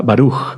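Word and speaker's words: ברוך: Por ejemplo, perdón, y o y la interpretación puede ser la primer sílaba fuerte y la segunda sílaba suave. Por ejemplo, con la palabra baruj, bendito barug. Sí, la primera fuerte.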